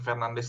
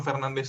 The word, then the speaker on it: Fernandes: Iya, jadi Bruno Fernandes tuh harusnya dibacanya susah lah, kayak Bruno Fernandes kayak gitulah. Tapi anyway, kita di sini ya kita pakai pronunciation standar aja ya, Fernandes, Bruno.